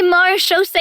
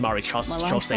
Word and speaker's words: Marechaussee: Oh yeah, it's actually pronounced Marechaussee, not Marechaussee.